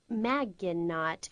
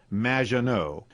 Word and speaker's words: Maginot: Claude Maginot, welcome to the show. Thanks, Amy. However, you have mispronounced my name. It's Madge, which rhymes with badge. As in duh, and no as in more than you. Maginot.